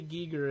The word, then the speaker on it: Giger: show notes sure yeah I always pronounce it Geer because I think that's like German pronunciation but but in or gigger I don't know yeah I've seen him say Giger and because I used to say Gyer when I was in high school and then I heard